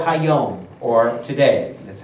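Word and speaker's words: היום: As long as it is called Hayom, or today.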